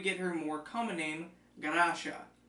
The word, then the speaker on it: Garasha: her more coming in Ganesha the Japanese pronunciation of Gracia when Tanaka returned home